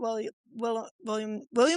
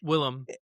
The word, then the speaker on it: Willem: I also haven't met William Will Dafoe, right? Willem. Willem.